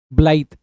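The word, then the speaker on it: blithe: ब्लाइड basically आप बोल सकते हैं। ब्लाइद।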